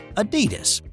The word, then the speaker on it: Adidas: The Dosler brothers started the shoe brand Adidas. And yeah, I'm doing the US pronunciation of that, but they started Adidas in the mid to late 1920s.